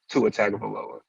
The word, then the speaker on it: Tua Tagovailoa: on the sports show than CTE man himself, Tua Tagovailoa. I actually said that right. That's the first time I've actually pronounced his name right.